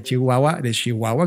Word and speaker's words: Chihuahua: Ya habíamos platicado un poco de Rubén cuando justamente estaba yo invitado por una agencia de Chihuahua, como correctamente se pronuncia.